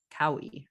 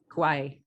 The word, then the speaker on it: Kauai: in Baltimore New York City Boulder and now Cowie right Kauai okay there we go I've seen it written